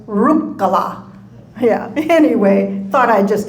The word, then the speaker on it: Ruhkala: We grew up hearing everyone say Ruhkala. And all our life we had to correct that and say the Finnish pronunciation of last names, the first syllable is always stressed. So it's Ruhkala.